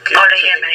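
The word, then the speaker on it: Olayemi: I'll spell that for you. Yep. O-L-A Yep. Y-E-M-I. Y-E-M-I. Yeah, and it's Oluyemi.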